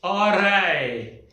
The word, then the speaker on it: alright: This is called as alright. Alright. Rai sound is there in the end.